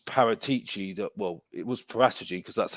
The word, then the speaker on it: Paratici: um it was paratichi that well it was poratagey because that's how you say it prattagi um